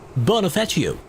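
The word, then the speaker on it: Bonifacio: The next stop is Bonafacio. Bonafetio is what it claims to be pronounced.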